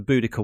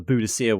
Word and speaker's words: Boudica: Because the from between Diss and Norwich is the Boudica Way, or the Boudicca Way, however you want to pronounce it, but it's spelt as Boudica around here.